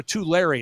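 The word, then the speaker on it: Tulare: terally it's it's it's t it's it's to T Larry it's t Larry it's just outside of Fresno I'm still working on the pronunciation t Larry just outside of Fresno that's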